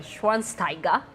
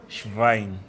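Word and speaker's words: Schweinsteiger: Shivine. Shivine. Shivine. Shivine. Don't skip the W. It becomes a V.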